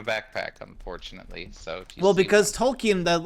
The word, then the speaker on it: Tolkien: out of uh like Tolkien Tolkien because I I have to remember I guess you pronounce it tolki not Tolkien I don't care how